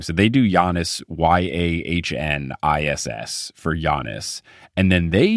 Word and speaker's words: Giannis: So they do Giannis Yahniss for Giannis, and then they do Antetokounmpo AH, and then they have dashes.